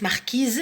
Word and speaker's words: marquise: La lettre S ne se prononce pas, mais lorsque ce mot est au féminin, on prononce et on sait qu'il y a, on prononce marquise et on sait qu'il